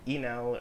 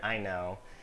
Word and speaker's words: Inel: but his account says pronounced Enel or Inel.